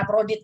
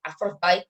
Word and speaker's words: Aphrodite: Nah, mereka meyakini bahwa Dewi Afrodit, ya kita bacanya Afrodit gitu ya, Aphrodite gitu.